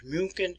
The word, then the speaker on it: München: We have corrupted the word in English and we spell it as Munich. The proper name is München.